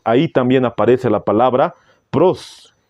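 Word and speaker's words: πρός: palabras era con Dios en el griego se pronuncia de la siguiente manera prost ton feon la palabra pros denota relación íntima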